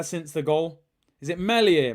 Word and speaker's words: Meslier: Is it Meslier? Meslier, so it's a silent S here.